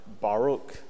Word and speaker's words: Baruch: 1918 um when the Wall Street financier Bernard Baruch this is how his name is pronounced uh took over labor mobilized National War